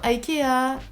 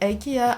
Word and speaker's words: IKEA: Donc sur Amazon KDP, excuse-moi, enfant de Dieu, c'est comme IKEA. En Angleterre, c'est IKEA. En France, c'est Ikea.